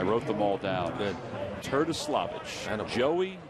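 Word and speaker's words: Terdoslavich: Turtislavich. Joey Turtislavich. Right. Basically, they said that it's pronounced just the way it sounds. Okay. T-E-R-D-O. Turtislavich. The way it looks.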